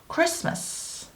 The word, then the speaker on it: Christmas: 마찬가지로 Christmas에서도 T가 발음이 안 나죠. Christmas.